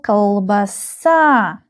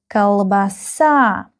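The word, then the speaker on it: колбаса: So, we have three syllables here. And the stress is on the last syllable. Kalbasa. Kalbasa. Kalbasa. Again, this O doesn't have stress and it's pronounced like a kalbasa.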